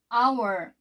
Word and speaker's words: hour: 여기 보면 한 시간 할 때 여기 h가 자음이지만 hour 발음할 때 a로 발음됐기 때문에 어가 아니라 on으로 썼죠.